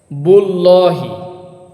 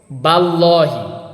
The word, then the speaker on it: বিল্লাহি: যদি পেশ থাকতো তাহলে বুল্লাহি আবার যদি জবর থাকতো বাল্লাহি যেহেতু জের আছে এজন্যই বিল্লাহি ল উচ্চারণ হবে না এখানে উচ্চারণ হবে লা